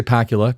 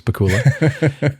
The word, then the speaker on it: Pakula: I want I always want to say Pacula because it rhymes with Dracula, but it's Pula.